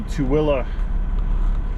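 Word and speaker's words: Tooele: of them were correct i looked it up and it's apparently to willa which is not spelled close to that way but so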